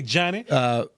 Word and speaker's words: Ajani: Ajani Cornelius is how you say the first name, by the way. Hey, Johnny.